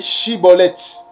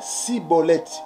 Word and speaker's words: Schibboleth: non il lui disait alors et et bien dit chibolette et il disait sibolette voyez donc lorsque les